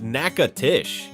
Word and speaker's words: Natchitoches: Natchitoches is pronounced NACHITOCHES.